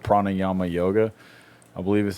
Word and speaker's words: pranayama: And it's like they have the whole thing called pranayama yoga. I believe is how it's pronounced.